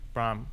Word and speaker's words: Brahm: Brahm. right? Brahm. Whatever. You make me say it right.